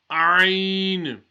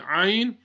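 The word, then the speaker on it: عين: Ayn and the last letter we read, the ha, are both pronounced from the middle of the throat.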